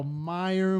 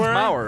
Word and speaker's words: Mauer: like Maurer, but like nobody really knows how to pronounce Maurer until they hear it. So it's just like, oh, I guess gotta spell hour The normally. Maurer. Dude, people go Meyer. Welcome to the Maurer. It's Maurer, right?